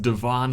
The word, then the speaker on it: Devon: Then I noticed Devon Avenue had the same angle, and yes, it is pronounced Devon.